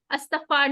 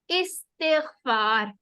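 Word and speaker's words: استغفار: एक चीज इसमें इंपॉर्टेंट है, हमने उर्दू वाला अस्तगफार नहीं कहना, इस्तिगफार।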